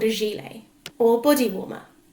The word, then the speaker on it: gilet: it is called a ‘gilet’ or ‘body-warmer’. Gilet is actually a French word so even though it is spelt ‘gilet’ the 't' is silent.